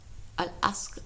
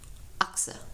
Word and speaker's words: Aqsa: Al-Asqa, I always say it wrong. Aqsa, yeah, that's right.